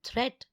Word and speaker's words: threat: Watch out for meat and great and threat. They rhyme with sweet and straight and debt.